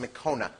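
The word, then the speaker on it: Mekone: It's pronounced Mekona.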